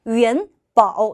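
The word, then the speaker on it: 元宝: 叫元宝 라고 하는데 元宝 라고 읽어주시면 돼요. 아, 元宝 입니다.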